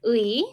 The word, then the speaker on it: 의: 의, it has to be 의 in the first place, but when it has the meaning of possession, like for example, 민지의 옷, Minji's clothes, then we pronounce it as 에.